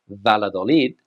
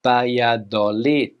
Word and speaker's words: Valladolid: Now, this city is in northern Spain, and in English, we would say Valladolid, but in Spanish, Valladolid. Valladolid, Valladolid.